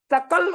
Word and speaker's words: सकल: जैसे सकल और शकल, सकल का मतलब संपूर्ण होता है, और शकल उच्चारण कर दिया जाए तो उसका हो जाएगा खंड, 2 खंड में बंटना शकल होता है, टुकड़ा।